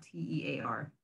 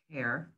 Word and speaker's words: tear: Or you can pronounce it as tear, which means, you know, the water that comes from your eyes if you're crying.